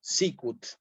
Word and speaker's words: sicut: es bueno recordar que en latín toda palabra que es bisílaba lleva el acento en la penúltima sílaba Entonces en este caso el acento va a ir aquí sí sicut si toda palabra de